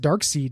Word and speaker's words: Darkseid: Fate not helping out against Darkseid and shit?